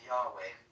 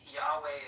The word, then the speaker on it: Yahweh: So Yahweh is is really what the best Hebrew uh translation would be or like pronunciation. There's so much history around unclear if Yahweh is even the right way to pronounce it.